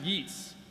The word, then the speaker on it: Yeats: Yeats, which is actually pronounced Yeats.